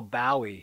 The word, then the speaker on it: Bowie: very much a beatle oh bowie he would say contemptuously to rhyme with bow wow idol wrote the monty